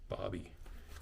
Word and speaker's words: Baby: so we know Charles Bobby it looks like baby but it's pronounced Bobby he was a former